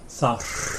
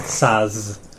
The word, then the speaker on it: þar: Thar. Þar. Yeah, rather than thaz.